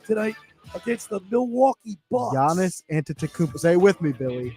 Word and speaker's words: Giannis Antetokounmpo: a big game tonight against the Milwaukee Bucks Giannis antetokuba stay with me Billy Giannis antetokounmpo Anthony saying it wrong as well Giannis the